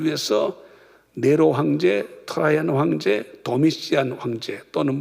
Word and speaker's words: 도미시안: 그 다음에 주님의 계시를 받는 사람들을 위해서 네로 황제, 트라이안 황제, 도미시안 황제, 또는 뭐 유식한 사람들은 도미시아누스 이렇게 발음할 수 있는데, 이런 프라비우스 황제 3대에